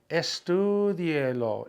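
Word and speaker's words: estúdielo: Where should the stress be? Well, it should be 2 vowels back now. Low ends in an O, so the rule says it should be on that IE functioning as one sound. It should be, that would make it estudielo, estudielo. It doesn't make any sense.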